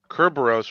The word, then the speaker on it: Kerberos: Kerberos, which is the Greek pronunciation, literally means spotted.